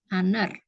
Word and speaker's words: honor: ya dibandingkan dengan e karena saat pengucapan kata honor ini ya lebih terdengar seperti huruf vokal Memang karena hanya tidak dibaca ya karenanya lebih menggunakan honor